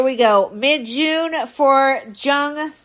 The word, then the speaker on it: Jung: runs so here we go mid June for Jung young how do you say it Leonard young young